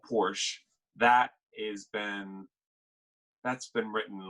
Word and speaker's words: Porsche: Is it Porsche? I mean, I've been told that it's actually pronounced Porsche. Oh man, I pronounce it the way the French pronounce it, but apparently Porsche is how they pronounce it.